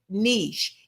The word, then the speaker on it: niche: It says the niche and you do pronounce it niche. It sounds it rhymes with the word sheish.